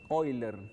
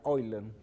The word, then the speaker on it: Euler: venezuela matemática 4º año origen del número de hoy learn número en fíjense que se escribe euler no se pronuncia hoy learn que tiene un origen europeo ese apellido se escribe euler y se pronuncia hoy leen o simplemente se conoce como el número porque